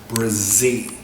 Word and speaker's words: Brzee: Brazie is spelled B R Z E E Brazie.